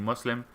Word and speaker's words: Muslim: Thank you for saying Muslim. Oh yeah, it should be Muslim, right? Okay. If you're saying thank you, I guess that's the correct pronunciation.